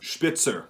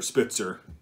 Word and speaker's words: Spitzer: The correct word is a Spitzer bullet, or Spitzer. You know, I just wanted to be so correct and be really condescending with that first pronunciation, the original German pronunciation.